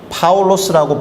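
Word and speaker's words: Παῦλος: 그럼 바울은 파울로스라고 발음되는 로마식 또는 그리스식 또는 헬라식 이름이다.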